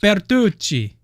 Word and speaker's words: Bertuzzi: Bertucci. Yeah. Apparently that's the way you pronounce it. Italian.